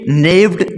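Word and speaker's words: gnawed: पकड़ा हुआ है इट नेड the roof with its sharp teeth and सेट the lion free यहां पे जी जो है वो साइलेंट है तो इसे ने नेड पढ़ेंगे नेड का मतलब होता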